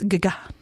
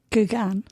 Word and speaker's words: Geoghegan: It's Irish etymology, and it's Gagan. Gagan. But it's spelled Geoghegan.